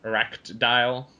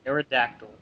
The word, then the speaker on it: Aerodactyl: like Eric or I can't say that one eract dial whatever from one Aerodactyl yeah that's it Aerodactyl my little 8-year-old brain is still trying to